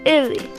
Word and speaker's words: Ele: Wait, before we catch the thief, we have to say the pronounce correctly. Listen closely. Number one, Ellie versus Ella. Ellie.